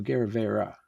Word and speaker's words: Agerrevere: Or does it end with an E? Agerrevere. No, Agerrevere. In Spanish is an E sound at the end.